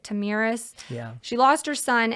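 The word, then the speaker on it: Tomyris: queen I think her I think you pronounce it tamiris yeah she lost her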